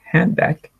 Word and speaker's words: handbag: Handbag? Yeah. Mm-hmm. Okay. Handbag. What are we not pronouncing here? D. Hand. D. This sound. Exactly. Mm-hmm. So we're not saying the D at the end of handbag.